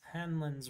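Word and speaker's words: Hanlon: Hansen's Razor H HL hanlin's razor hanlin that's that's how you say it cool hin Handlock I thought you get there Jake Handlin razor yeah I thought it was Handlock I told Eli last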